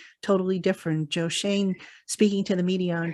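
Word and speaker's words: Schoen: I always mispronounce it. Shane. I always say Shaun.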